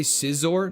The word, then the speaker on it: Scizor: I say Scizor, not Caesar. Fair. I mean, it's probably supposed to be pronounced like Scizor, but for me, it seems more exciting as Caesar.